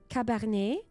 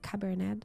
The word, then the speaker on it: Cabernet: called cabar I I I hope you are pronouncing it this way Cabernet probably it's Cabernet like the wine um and I'm having